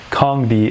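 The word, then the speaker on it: Kandi: neo ticker symbol nioh kong d as i know now that it's pronounced ticker symbol knzi and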